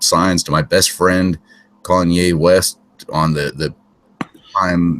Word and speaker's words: Kanye: divorced but didn't that Keen West or Cayenne West what however you say his name Kanye pepper Kanye that's it wasn't he one of